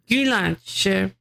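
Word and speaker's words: Güllaç: about IPA you uh pronunciation in Turkish is it like gulach gulach.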